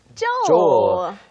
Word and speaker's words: Joel: 영국 런던에 살고 있는 Joel. 조엘이라고 발음하고 뭐 우리말로는 조엘 정도가 되겠죠.